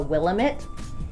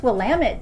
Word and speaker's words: Willamette: incorrectly call it the Willamette. So the easiest way to remember the correct pronunciation is a rhyming phrase that you will find on shirts printed all over the place that simply joke, "It's Willamette, damn it."